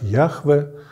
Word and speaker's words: Яхве: традиции прочтения этого имени некоторые считают что это имя должно было произноситься как Яхве другие как Иегова Ну в общем-то Это